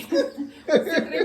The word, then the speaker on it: citric: नहीं सिट्रिक acid कह रहे ना, सिट्रिक नहीं होता, साइट्रिक होता है। सिट्रिक एसिड होगा, साइट्रिक एसिड होता है। नित्य से पूछ लो चाहे। नित्य सिट्रिक हो साइट्रिक, क्या स्पेलिंग हो? CITRIC। साइंस पढ़ी नहीं है पर इंग्लिश तो पढ़ी सिट्रिक ही होता है। सिट्रिक एसिड बोला जा। है। साइट्रिक बोल।